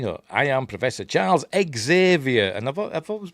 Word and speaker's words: Xavier: story cuz you know the name Xavier is pronounced you know either Xavier or Zavier is it? That's the the usual way to pron I've never heard it pronounced Xavier except in this.